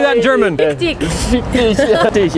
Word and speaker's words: Fick dich: Fick dich.